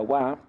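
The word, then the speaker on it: は: vieron que en realidad este hiragana originalmente se pronuncia Ja Y hay un montón de palabras que este sí forma es una sílaba que pertenece a muchísimas palabras Ja pero cuando funciona como partícula como en este caso bueno la pronunciamos Wa es un tema de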